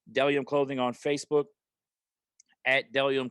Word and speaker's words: Bdelliom: Next, Delium. Boom. Got the shirt. My guy Isaac over at Delium. It's spelled Bdelliom.